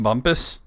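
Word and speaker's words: Bumpass: Virginia has Bump Ass. Hey, Matt Damon. I feel like I've been through there. Bump I Ass. don't, It's I don't apparently- really want bump ass. According to this, it's pronounced Bumpus.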